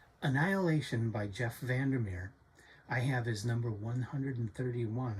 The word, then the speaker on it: VanderMeer: And today we are going to be talking about Annihilation by Jeff Vandermir.